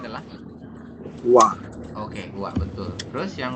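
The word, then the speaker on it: 와: dibacanya adalah Wa.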